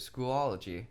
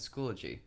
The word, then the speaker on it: Schoology: anyone who pronounced it school ology but the correct pronunciation is school G school ology maybe caching but it contains an extra syllable that the word Schoology does not contain pronunciations aside a recent